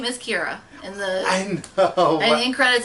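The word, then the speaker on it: Qi'ra: But her name is Kira. I know. And in credits, it's spelled Q-I-R-A.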